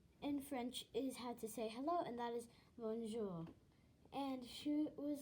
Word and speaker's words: bonjour: And it does sound a little weird how it's spelled like that, because it actually doesn't sound like that. Bonjour. bonjour. And instead of saying it like this, bonjour, it's actually bonjour with a short R.